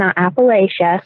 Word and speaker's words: Appalachia: physician why focus on rule well I'm from Appalachia and I'll go ahead and tell you now a lot of people who aren't from the area mispronounce Appalachia so just know it's pronounced Appalachian or Appalachia I had some one case the other day